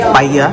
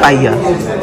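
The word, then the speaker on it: paella: এটাকে বলা হয় পাইয়া, যদিও লেখা দেখে মনে হয় পায়লা, কিন্তু এটার উচ্চারণ হচ্ছে কি পাইয়া।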